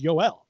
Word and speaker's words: Joel: I thought because he refers to himself as Yoel.